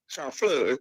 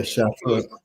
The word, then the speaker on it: Chamfleur: Chamfleur. F-L-E-U-R. Yeah, Chamfleur. It's a Chamfleur. Right. Yeah, Trini have own pronunciation.